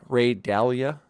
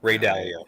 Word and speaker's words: Dalio: definitely buying that uh ray dalia is that how you say his name galia ray dalio yeah dalio i'm going to buy